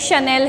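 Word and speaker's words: Chanel: Like शनेल है, ठीक है, ब्रांड है शनेल, लेकिन स्पेलिंग क्या होती है, CHAN। अब उसको क्या है, कुछ लोग चैनल पढ़ेंगे, कुछ लोग कुछ और पढ़ेंगे, एक्चुअल में वो कुछ और है, ठीक है।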